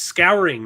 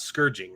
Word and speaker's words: Scouring: like they're skipping the scouring of the shire um is it it's scouring not scourging right the scouring of the